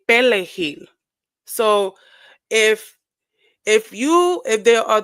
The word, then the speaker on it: perejil: So in Spanish, parsley is pronounced as perejil with a R, pere. And of course, Haitian, speaking Haitian Creole, um, they say pelejil.